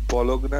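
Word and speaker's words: Bologna: হ্যাঁ sorry to disturb you বাট এই নামটার উচ্চারণ কেমন হবে স্যার অ্যান্টনিও বলঙ্গা বলগনা না বলার স্যার ও আচ্ছা বলগ না হ্যাঁ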